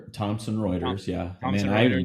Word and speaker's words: Thomson Reuters: Um Chris, you guys have picked up some incredible awards, Forbes, Thomas Reuters. If I Did I Did I pronounce that correctly again? I know I asked you last time. Thomson Reuters, yeah.